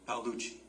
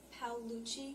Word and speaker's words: Paolucci: Is it Pali? Paluchi. Paluchi.